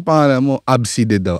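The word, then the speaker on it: Abcde: ganon tapos sabi ko ano yan paano i-pronounce yung pangalan mo absid daw abside abside nung bata nga ako tol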